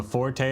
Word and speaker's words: Forte: So Forte are just pronounced Fort? The E silent?